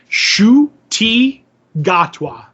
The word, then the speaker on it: Ncuti Gatwa: And this is how you pronounce his name. I don't know if you'll ever remember it, but I have it down now. It's Ncuti Gatwa.